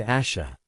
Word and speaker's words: Ayesha: Pronounced Ayesha.